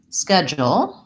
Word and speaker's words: schedule: of the word but we don't say a CH sound in this word we'd say a K sound in American English and the syllable the